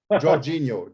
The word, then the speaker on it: Georginio: chris just ask brian for all your dutch pronunciation georginio georginio there you go that's right and uh